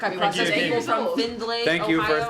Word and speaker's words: Findlay: Is- Findlay, you pronounce the D.